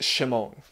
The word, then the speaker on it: Shimon: Peter's given name is Simon, which in Aramaic probably would have been pronounced Shimon.